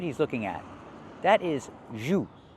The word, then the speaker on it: jus: That is jus. Not juice, but jus.